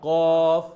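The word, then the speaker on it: ق: নিচের ঠোঁট ফা সা কফ কফ কাফ কাফ কফ কফ কাফ কাফ উচ্চারণে বুঝতে হবে কফ আর কাফ আমি সাধারণকে বুঝার জন্য বলি এটা হলো আরবি কফ এটা হলো বাংলা কাফ ক মানে একটু বাংলা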